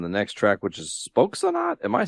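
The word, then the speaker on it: Spöksonat: we have officially found ourselves on the next track, which is Spokesonat. Am I saying that right? I think. Spokesonat. Not. I think so. Would be a long O there with the umlaut.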